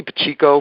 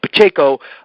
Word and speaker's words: Pacheco: See, I see Pacheco because I'm Portuguese, and that's how we pronounce it. But Pacheco.